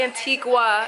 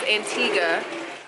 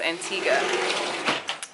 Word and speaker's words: Antigua: at the royalton antigua that's how you say it you don't say antiqua it's antigua everybody that we've spoken to says antigua um we didn't get